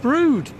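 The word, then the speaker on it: Brewood: coming into now is a place called brood but it's spelt b r e w double o d you've probably seen it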